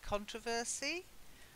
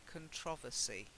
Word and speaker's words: controversy: hear the difference controversy now some Americans say controversy and some Brits like me say controversy okay so again you